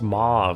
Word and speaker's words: Mo: Minister's pet you mean it's pronounced Mau that's why she didn't